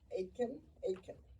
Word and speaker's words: Aitken: Now I want to yield to Mayor Aitken from Anaheim, California. And thank you again, Ashley. Rhymes with bacon.